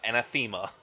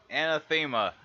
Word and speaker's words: Anathema: Welcome, ladies and gentlemen, to Mike and Chris game, and in this Mike and Chris demo, we are playing Anathema, not Anathema. Anathema.